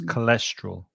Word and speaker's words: cholesterol: that word as well because there's a CH at the beginning but the sound is K so it's cholesterol cholesterol mm-hmm um what